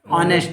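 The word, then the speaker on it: honest: तो तुमको मालूम है, जब ये मत देखना आप, ये एच साइलेंट है, क्या है ये, साइलेंट।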